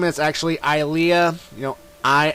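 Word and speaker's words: Ilia: age as link well her name is actually ilea you know i l i a and um i called her ellia by mistake but um i'm gonna pronounce it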